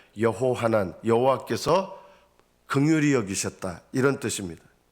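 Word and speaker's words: יְהוֹחָנָן: 요한이라는 뜻은 히브리어로 좀 이름을 발음하면 여호하난, 여호와께서 긍휼히 여기셨다 이런 뜻입니다.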